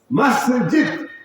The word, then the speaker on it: মসজিদ: কোনটা শুদ্ধ? মসজিদ। শুদ্ধ উচ্চারণটা শিখে নিন, ঠিক করে নিন।